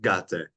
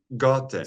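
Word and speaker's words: Gåte: feeling in Norway with Gate? Gate, do I pronounce them correctly? Gate? It's like Goethe. Gote. So, Gote. yeah, Goethe. Okay, It's okay. it's a special Norwegian letter that only we have, I think.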